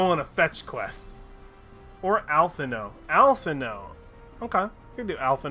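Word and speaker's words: Alphinaud: you sure alpha not because I feel like that D is maybe the diet D is silent alpha no yeah that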